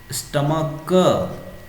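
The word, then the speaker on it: stomach: जैसे यहाँ पे मोनार्क क की तरह यूज हो रहा है, यहाँ पे मोनार्क है ना, मेट्रियार्क, स्टमक और हायरार्क।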